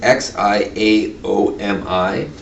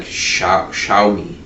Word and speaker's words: Xiaomi: right yeah and if you ever xiaomi is x i a o m i wow and it's like xiaomi yeah xiaomi is how it's pronounced yeah but so but xiaomi is there